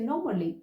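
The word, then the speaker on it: normally: से नॉर्मली ठीक है इन ब्रिटिश एक्सेंट यू से नॉर्मली र को साइलेंट करना है ओके द नेक्स्ट इ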